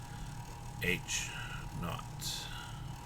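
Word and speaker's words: H₀: speaking in statistics is h naught not being more of a traditional british word for zero than necessarily american and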